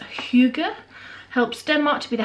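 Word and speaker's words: hygge: back it says this Scandinavian concept pronounced huger helps their march be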